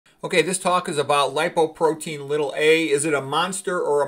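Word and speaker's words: lipoprotein(a): Okay, so again, you usually will pronounce it lipoprotein little a.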